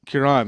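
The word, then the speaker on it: Cuarón: how do you say his last name Kiran Kiran there we go yes that was expected I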